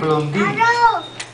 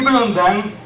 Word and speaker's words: Blondin: En su infancia, un niño de apellido Blondin, francés, lo escriben Blondin, pero se pronuncia Blondin.